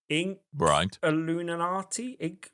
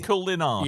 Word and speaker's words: Inkulinati: so I'll try, but Inkulinati? Inkulinati. Inkulinati. Inkulinati. Yes. Like Illuminati, but ink. Yes, but with the ink at the beginning, which Ulinati. isn't that easy to say.